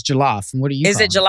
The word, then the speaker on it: jollof: Okay, how are you pronouncing it? Because they say it's jollof.